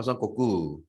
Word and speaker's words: Son Goku: 썬꼬꾸.